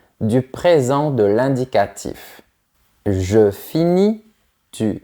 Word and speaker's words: finis: Attention à ne pas prononcer les lettres en gris.